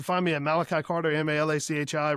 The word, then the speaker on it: Malachi: And then like, yeah, on Facebook, you can find me at Malachi Carter, Malachi, rhymes with apple pie Carter.